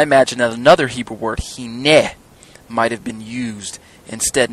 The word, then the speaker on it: hineh: Because if it were, I imagine that another Hebrew word, hineh, might have been used instead.